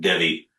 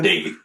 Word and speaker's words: Devi: What was her name you just said again? Davey. Did I say it wrong? Yes, she did. I said Debbie.